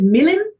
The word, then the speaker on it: Milan: that you never are supposed to say with the scansion milan to refer to the place that every single noble is from the scansion makes it millin every single instance of milan in the play and i have been stopped in my tracks many times by the stage manager saying milan you do not say milan it is milan and then i'm like